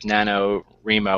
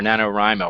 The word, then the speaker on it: NaNoWriMo: most people by now are pretty familiar with NaNoWriMo or NaNoWriMo. I've heard it pronounced Yeah.